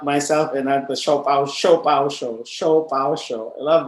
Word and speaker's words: ShoPowSho: i'm saying it right it's show po show show pow show shop show it's the shop show by the